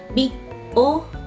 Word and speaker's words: big O: Nah, ini simbolnya adalah dibacanya big O n kuadrat ya.